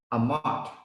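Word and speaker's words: אמת: It pronounced Amat, means covenant of a mother.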